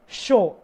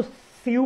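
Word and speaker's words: sew: अब है शो, अब इसको सीव पढ़ेंगे, बहुत से गलत पढ़ेंगे, पर ये क्या होता है, यही तो मैं बताने के लिए आपको हर एक वर्ब प्रोनाउंस कर रहा हूँ, बोल रहा हूँ कि इसको आप गलत ना पढ़ें। इसका जो प्रोनाउंसिएशन वो क्या है, शो होता है, इसका मीनिंग क्या होता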